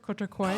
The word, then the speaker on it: Cortocois: It's terrible to pronounce. Nobody could say it correctly. Did I say it correct? Cortocois?